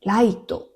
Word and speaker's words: 月: あと月って書いてライトと読むみたいです。